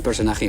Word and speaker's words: personaje: says mi personaje, and personaje has a J in, and the way he's pronouncing it is with that kind of heavy sound. Mi personaje Mike.